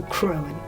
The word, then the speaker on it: cruan: So, we stumbled across cruan. And it very much sounds like it's spelt. So, it's pronounceable. So, cruan.